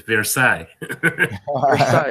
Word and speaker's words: Versailles: know in France that Versailles I don't know how to proceed English there's also this new pronounced in French this bear sang okay there's this monk